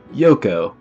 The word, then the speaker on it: Yoko: confirmation thank you nathan i now know it's pronounced yoko so hopefully that confusion is going to be